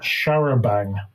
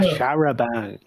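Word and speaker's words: charabanc: H A R A B A N C pronounced Uh, Sharabang. Ah, Sharabang. Okay. Yeah. So, yeah, it's an open top bus, I believe. Uh, anyway, that same year about a Sharabang full of tourists traveling along the B3212.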